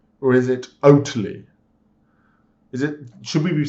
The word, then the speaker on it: Oatly: Is it Oatly or is it Oatly? Should we be saying like Oatly? Oatly. Should we be pronouncing the T so it sounds like totally?